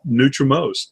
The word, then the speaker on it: Nutrimost: And you may not have this Nutrimost in your city, but it's Nutrimost. It's spelled just like it sounds, and it's one word.